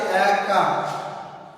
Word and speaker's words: একা: তো দেখো এরপরে আমি পরে যেটা আছে একা, একা, এই এটার উচ্চারণটা দেখো, এটার উচ্চারণ এ, আমরা কিন্তু একা এটার উচ্চারণটা করি কি এর মতো, এটার উচ্চারণ হবে এ কা।